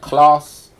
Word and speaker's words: Clarss: I have set up my own business called Class. I'm just to explain to everyone, Class. Class is pronounced class, but spelled CLARSS because I like saying first class, different class.